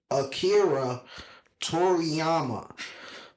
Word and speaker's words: Akira Toriyama: For those who don't know how to pronounce it, I'm going to say it one more time. Akira Toriyama.